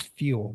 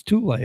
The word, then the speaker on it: Thule: I thought it was fuel, but it's Thule, huh?